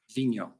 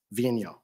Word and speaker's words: Vigneault: We've all been debating about how to pronounce it properly. Vigneault. Vigneault.